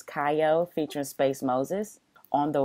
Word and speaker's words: Kiyo: a relaxing vibe like I do believe is how pronounce it it's kayo featuring space Moses on